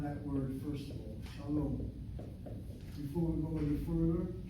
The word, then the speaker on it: shalom: It has 2 syllables. The shin letter has a kamatz under it. A short vowel, open syllable, is not possible unless it's accented. But if you look at the second syllable, the CVC here you have a long vowel, which definitely must be accented, which tells me that